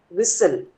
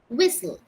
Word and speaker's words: whistle: Whistle. Whistle. Yes. H is silent here.